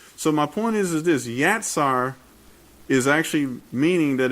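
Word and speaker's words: יצר: And it's pronounced yatsar. That's yatsar.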